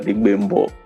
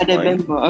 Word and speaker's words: Adegbembo: And today I'm joined by a special guest, the founder of Genii Games, Adebayo Adebembo. Correct? Did I say it correctly, sir? That's fine. Adebayo Adegbembo. That's Adegbembo, okay.